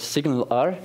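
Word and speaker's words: SignalR: to any HTML um tag and finally there's signal R it's pronounced like that s signal R hence the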